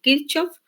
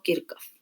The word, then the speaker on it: Kirchhoff: La RAE dice que cuando una palabra está en lenguaje extranjero, o sea, en otro idioma diferente al nuestro, la palabra se puede pronunciar como se pronunciaría en el lenguaje original o como sonaría en español. Entonces, por eso le pueden decir Kirchhoff o Kirchhoff.